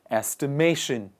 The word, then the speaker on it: estimation: But the name of that process is called estimation. Estimation. And the stress is on the second part on the second part, in the middle of the word.